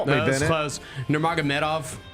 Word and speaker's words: Nurmagomedov: Khabib Numar Gomeov, you know this guy. That was close. Help me. That was close. Nurmagomedov. Numar Medov. Believe that's the correct pronunciation. You were close.